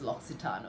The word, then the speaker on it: L'Occitane: and the spelling is something else, but you pronounce it as L'Occitane, okay?